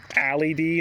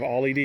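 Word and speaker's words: Ally Dee: Turns out I may have been pronouncing it wrong all this time. Allie D instead of Ollie D, because Ollie D is usually spelled with an O, or Ollie is spelled with an O.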